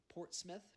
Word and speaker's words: Portsmouth: and fine jewelry and portsmouth portsmouth probably is how it's pronounced but port's mouth is what it looks like is home to the